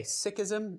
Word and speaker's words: Sikhism: In English, we sometimes say Sikhism and sometimes Sikhism. I know Sikh or Sikhism sounds a little strange in English, but that's the way that Sikhs themselves pronounce their religion, so we'll go with that.